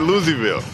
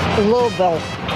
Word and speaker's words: Louisville: And as for the city that nobody can pronounce, I pronounce it Louisville. It's a little different, yeah. Sorry. That's not right. It's Louisville. What is it? Louisville.